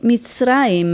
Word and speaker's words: מצרים: Y aquí tenemos que recordar cómo se dice Egipto en hebreo. Aquí dice Eretz Mitzrayim. Eretz quiere decir tierra. Mitzrayim es el nombre Egipto.